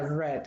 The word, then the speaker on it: read: Aquí en el caso de read, se pronuncia red como el color rojo. Read, red, red.